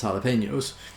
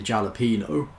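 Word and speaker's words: jalapeño: when they were ordering a lot of people in England mostly say JA Lupino because we don't speak Spanish apparently but you see you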